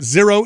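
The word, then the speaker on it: Xero: Zero is spelled X-E-R-O.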